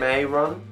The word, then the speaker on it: Mehron: How do you pronounce it? Mehron.